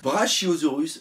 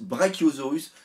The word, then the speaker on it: Brachiosaurus: Brachiosaurus, Brachiosaurus, je tiens à le dire, les deux prononciations sont bonnes parce qu'on m'a fait la réflexion pendant la réaction live.